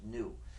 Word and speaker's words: gnu: of humor is because according to the dictionary the g is silent and it's pronounced new so anytime you want